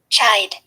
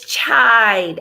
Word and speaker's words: chide: let's take a listen kite it's chide I said she'd it's chide CH IDE and it means to